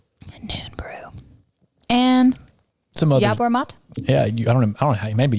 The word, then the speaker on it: yerba mate: And some other Yerba mate? Yeah, I don't know. Maybe yerba mate. Yerba. If you're from the South, it would be pronounced yerba mate. But that's probably incorrect.